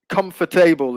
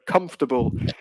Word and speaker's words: comfortable: of uh comfortable so comfortable is what you were saying but comfortable is is how we normally pronounce it okay it's quite shortened it's quite truncated um but yeah those